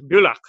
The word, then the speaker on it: Bülach: De hecho, me costó bastante tratar de pronunciar el sitio específico de nacimiento de Frank, que es Bülach, creo. Perfecto, Bülach.